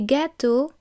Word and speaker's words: gâteaux: Des gâteaux, cakes. Un neveu, a nephew. Des neveux, nephews. Notice that the X which forms the plural is silent.